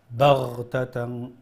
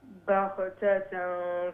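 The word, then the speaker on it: بَغْتَةً: When you pronounce the ghain, ghain will be pronounced from the top of the throat. That sound. Baghtatan. Baghtatan faiza hum mublisoon.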